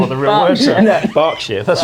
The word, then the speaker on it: Berkshire: It's Berkshire. Wait. I didn't remember what the real word was. Berkshire.